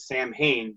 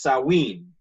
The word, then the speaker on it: Samhain: I've for years pronounced it Samhain, but the Celts have their own pronunciations for everything, so it's Samhain.